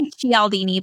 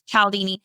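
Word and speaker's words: Cialdini: I used to say Chaldini, but it's Calaldini.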